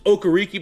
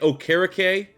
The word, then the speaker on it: Okereke: You have what didn't they change his name? It was Okereke, but now it's like Okereke. I'm gonna go Okereke just because Pat McAfee, that's how he pronounced it at the draft.